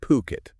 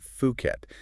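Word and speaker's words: Phuket: pukit I have but I've definitely heard it pronounced a few different ways yeah well that's the thing it's puket not fukit just in case anybody out there was wondering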